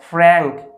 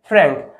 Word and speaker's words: frank: ফ্র্যাঙ্ক। এটার উচ্চারণটা কী হবে? ফ্র্যাঙ্ক।